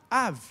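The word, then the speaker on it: אב: aí não domina mo av a gente escreve em português com bem mas a pronúncia no hebraico é um som de ver moah do pai por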